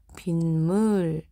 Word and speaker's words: 빗물: 그렇기 때문에 이거는 오히려 시옷이 음절의 끝소리 규칙에 의해서 디귿으로 바뀌고 이 디귿이 뒤에 있는 미음의 영향을 받아 비음이 되는 현상, 요렇게 이야기를 한다는 거예요.